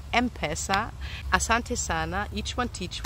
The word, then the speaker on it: M-Pesa: of m-pesa thanks for clarifying that it is pronounced m-pesa Asante Sana Each one teach one um but